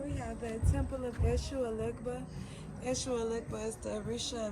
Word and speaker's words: Eshu Elegba: Eshu Elegba.